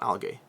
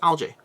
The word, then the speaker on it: algae: Al Al alga alga algae right not Alay it's algae right algae algae why can